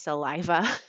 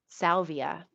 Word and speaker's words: salvia: makes me laugh um maybe i'm not even saying it so salvia i've been saying it wrong this whole time salvia i think it is sorry that's